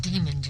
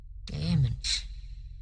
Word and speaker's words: daemons: It's not demons, it's daemons. Daemons who were regarded as